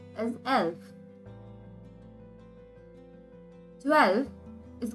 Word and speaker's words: elf: as elf nakhyan mal 11 is called as elf 12 is called as wall not the but